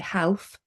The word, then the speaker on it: half: bom okay salmon okay when it's before an F half you say half half when it's before